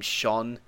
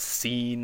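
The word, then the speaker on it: Seán: And then so Sho Ishibel, when a slender vowel is near an S, it becomes an SH sound, as in the name Sean. So that's why it's not seen or some other, or Seon or some weird pronunciation like that. The SE makes it an SH, and then you just pronounce the AN afterwards.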